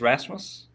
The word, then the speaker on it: Rasmus: it was oh yeah yeah how do i pronounce it it's um it's rasmus rasmus rasmus okay so so and i and